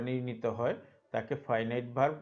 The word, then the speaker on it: finite: ফাইনাইট verb, ফিনিট না, এটা ফাইনাইট verb.